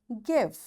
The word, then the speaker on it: give: It's before, give, hide, write. Yes, my dear children, have you noticed this letter E is there but we don't say it?